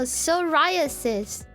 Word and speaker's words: psoriasis: Okay, let's say if someone has psoriasis... I don't know how to read that word. It's a skin condition. How do you read that? Psoriasis? So just that pronunciation. Oh, psoriasis.